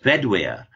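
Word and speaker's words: Bedwyr: of the Aran stories bed is name is pronounced bedir and bedwear in Welsh comes from a word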